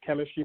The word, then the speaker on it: K3MISTRY: That is the music label / music subsidiary of Chemistry Productions, spelled K3MISTRY.